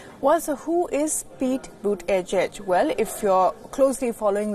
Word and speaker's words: Buttigieg: get one thing right how to pronounce his name boot edge edge Donald Trump went as